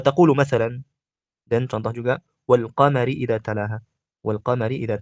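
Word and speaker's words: والقمر: Wal qamar hakala. La naqul wa al qamari hakala.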